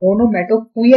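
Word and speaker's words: onomatopoeia: देखिए स्टूडेंट, जो लास्ट वाला ओ है इसकी प्रोनाउंसिएशन पर आप थोड़ा सा ध्यान दीजिएगा, ओनो MATO मोटो POEI। इसको बड़ा गलती करते हैं बोलने में, इसको ओनोमेटोपोया ही बोलते हैं, पुईया, ओनोमेटोपोया, राइट।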